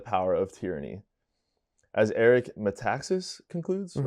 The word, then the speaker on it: Metaxas: As Eric Metaxas concludes, Mm-hmm.